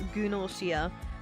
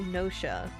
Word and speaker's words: Gnosia: Am I supposed to pronounce the silent G in it? It's Gunoshia, but it should be Nosha, I feel.